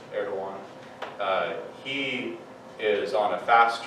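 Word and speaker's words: Erdoğan: It's spelled like Erdogan, but it's Erdogan.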